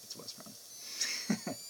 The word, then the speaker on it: Westron: Western, I know how to pronounce. Restaurant, maybe it's Westron. I don't know. It's Westron.